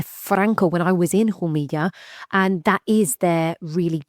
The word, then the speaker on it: Jumilla: So everybody buy Jumilla and when we say Jumilla this is spelt Jumilla with two double L's if you're